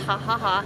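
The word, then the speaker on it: Jajaja: you and everybody J AJ AJ a it's pronounced ha ha ha it's absolutely phenomenal go there I've heard you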